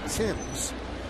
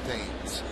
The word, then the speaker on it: Thames: Now, Eric spells his name the same way Marcus spells his name, the former Yagani, but Marcus pronounced his name Tims. Eric says his name was pronounced Dames.